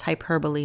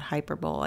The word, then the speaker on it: hyperbole: an example of hyperbole pronounced hyperbole not hyperbole I know everyone likes to say that sometimes ok symbolism most